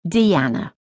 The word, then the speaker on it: Diana: Her name was Diana, but she pronounced it Deanna.